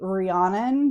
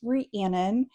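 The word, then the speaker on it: Rhiannon: Um, a lot of people say Rihanna just because of Rihanna, like the famous singer, but it's Rianan.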